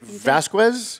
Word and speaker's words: Vasquez: Is it Vasquez? Vasquez. Wow, I got it right.